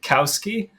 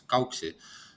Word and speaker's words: Kauksi: Is it Kauski? Am I saying that right? With Kauksi. Uh-huh. Well, in Estonian it's Kauksi, but yeah, it's difficult name to pronounce in Uh-huh.